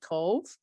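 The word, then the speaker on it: Cobh: the south of ireland this is actually cove it's spelt c-o-b-h and this is actually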